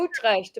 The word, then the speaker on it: Utrecht: Oh, Utrecht, Universiteit Utrecht.